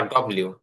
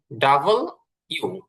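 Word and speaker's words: W: আচ্ছা, এরপরে আমরা পড়েছি ডাব্লিউ বা ডব্লিউ। এটা ডাব্লিউ না, ডব্লিউ না, এটা হচ্ছে ডাবল ইউ। ডাবল ইউ। যদিও এখানে দেখতে ডাবল ভির মতন দেখা যায়, কিন্তু এটা হবে হচ্ছে ডাবল ইউ।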